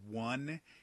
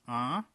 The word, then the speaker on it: un: through your nose it's it's pronounced entirely through your nose and the same thing